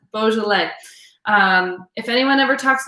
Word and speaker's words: Beaujolais: beaujolais but it is beaujolais so i'm going to give you all the street cred of having one-on-one sessions wine sessions with the sommelier it is pronounced bo joe lay so um say it